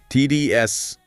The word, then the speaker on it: tedious: Focus on that long I sound at the beginning. TDS.